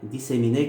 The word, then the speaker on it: disséminer: Mais lorsqu'on prononce de façon générale, on dit disséminer, disséminer, disséminer. C'est-à-dire le premier et devient i. Ça devient i.